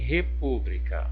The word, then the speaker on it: república: proparoxítona Ok República em república observa em só República Olha o pu e o povo é a minha sílaba tônica então em que posição